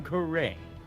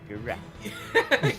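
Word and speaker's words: Ga'ran: of the murder was Her Eminence, Queen Sigtar Garain. Garan. Garan! But yes, all that. Yes. I said it with the pronunciation of the new.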